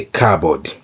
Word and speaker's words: cupboard: Iyi p ntabwo tuyivuga. This p is silent. There are a few cookies in the cupboard. Hasigaye amabiswi makeya mu kabati. We say cupboard.